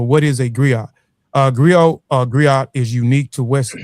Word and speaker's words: griot: Uh Grio Griot is unique to West Africa. The Griot or Jelly professionally encompass many roles. agree I pronounce grio have been referred to